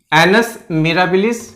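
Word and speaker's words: annus mirabilis: तो इसका जो प्रोनाउंसिएशन है आप ध्यान दीजिए, एनस मिराबिलिस।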